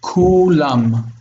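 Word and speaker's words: כלם: This is U. So it's read. This one is short actually because the dagesh has a closed syllable. It's like Kulam. So the syllable breaks there. Kulam. So it's short, long. Okay, so this is like, it has to be read this way.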